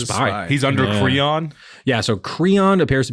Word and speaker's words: Kreon: His name is spelled Kreon. Oh, that's exactly how I wrote it down. Perfect. Yeah, great minds. I put a little dash in between Creon. Cree and on, so I would say it correctly.